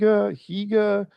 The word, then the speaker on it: hygge: We We look at it and we're like, "Is it hygge? higa? What is it?" It's actually pronounced hygge.